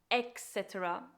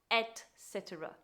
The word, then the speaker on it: etc.: And it's commonly mispronounced by adding an X, just like the word before. It is commonly mispronounced as etc. when it should be etc.